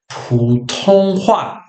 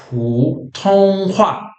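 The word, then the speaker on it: 普通话: No chinês, a gente pronuncia isso aí que vocês estão vendo aí. É Putonghua. Putonghua. Essa é a pronúncia de mandarim em chinês.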